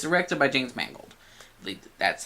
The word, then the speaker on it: Mangold: same thing director sir it's directed by James Mangold that's how we pronounce the name and those who will bring